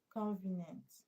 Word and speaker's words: convenient: Convenient. IENT. When a word ends with IENT, where should you stress? second from the end.